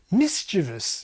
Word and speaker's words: mischievous: Mischievous is an odd word in English. Nothing rhymes with it. Mischievous is more in line with rebellious and laborious and erroneous, and it rhymes with previous and devious.